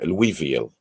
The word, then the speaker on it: Louisville: uh smile project uh louisville the ass is silent right so it is so people locally say louisville a lot of people outside um you know say louie oh you know louisville for people who don't